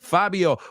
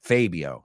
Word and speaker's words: Fabio: Fabio, welcome. And I love your name too. One of my best friends when I was growing up, his name was, well, we pronounced it Fabio, not Fabio.